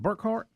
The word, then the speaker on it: Burkhardt: Yeah, I thought Kevin Burkhardt. Is it Burkhardt?